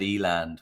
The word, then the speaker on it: Elan: And the first one is Elan Technologies, which totally correct me if my pronunciation is wrong on this, but Elan.